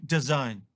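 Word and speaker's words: DAZN: story today is the sale of foxtail to design yes that's how you pronounce it for a deal worth a whopping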